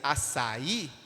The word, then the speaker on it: açaí: Por exemplo, café, parabéns e açaí são sílabas oxítonas, porque a sua tonicidade está na última palavra. Café está em fé, parabéns está em bens, e açaí está no i, na última sílaba.